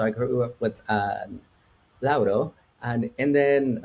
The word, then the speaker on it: Lauro: states and and like my name is like Loro like that's like how you pronounce it in English but how you pronounce in Spanish it's Lao and so like growing